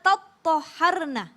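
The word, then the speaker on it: تَطَّهَّرْنَ: Itu karena mereka mengikuti bacaan qiraat dari Imam Syu'bah, Hamzah, Kisai, Al-Kisai, kemudian Khalaf yang mengatakan bahwa dibacanya fa'idha tattoharna dengan tasydid.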